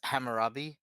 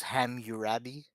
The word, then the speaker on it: Hammurabi: growing up I mean the guy mispronounces Hammurabi as ham urabi but other than that